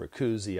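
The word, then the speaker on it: Kuthumi: And if you read Alice Bailey, you know, the Master Moria, the Master Kudhumi, I pronounce it the Master Rikuzi. I heard it pronounced differently the other day, but the Master Rikuzi,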